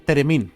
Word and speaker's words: Theremin: Ya, es que para mí es Teremín, no lo pronuncio con Teremín. Porque tiene una TH al principio, sí, ¿no?